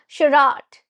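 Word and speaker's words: charade: pronunciation as you can see spelling is different pronunciation is a bit different it's shirat now shirat have you ever heard about the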